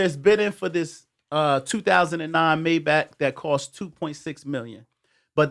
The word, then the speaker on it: Maybach: Maybach. He say my back.